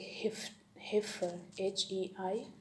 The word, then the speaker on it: heifer: Three special word in which the combination is pronounced short E, as in well, yeah, bell. So just like heifer, HEIFER, heifer, means a young cow, heifer.